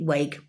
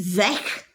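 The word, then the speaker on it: weg: e w e g I always pronounced it wake but it's Zach but I call it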